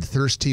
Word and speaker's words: Thirstea: It's spelled THIRSTEA, all one word. Thirsty, one word.